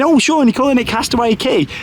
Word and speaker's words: Castaway Cay: might be thinking oh Sean you're calling it Castaway key it's it says K on the signs and the name of it but no is pronounced key so Castaway key is how you say it for anybody that's